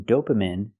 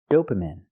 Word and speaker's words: dopamine: I cannot say this is when dopamine is produced by our brain. The word is not pronounced dopamine. It's pronounced dopamine. I have to use the long e sound like green beans.